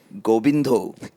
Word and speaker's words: Govind: is a very You have the correct vowels Yes, for right a syllables, Bengali. Hoshang is very Bengali. Gobindo.